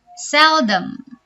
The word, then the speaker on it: seldom: Seldom. Ini huruf O kita bacanya arah ke E ya.